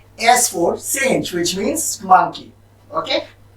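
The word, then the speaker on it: singe: S letter को भी हम फ्रेंच में ऐसे ही प्रोनाउंसिएट करते हैं, which means in फ्रेंच हम एस फॉर पढ़ेंगे सेंज, जिसका मतलब होता है मंकी, सेंज फॉर मंकी।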